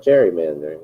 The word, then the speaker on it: gerrymandering: No, not gerrymandering. It's gerrymandering. It's not a J, it's a G.